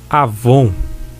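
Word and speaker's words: עוון: de cosméticos e perfumes avon mas a pronúncia forma transliterado escreve se com w mas lê se a von ah vão significar a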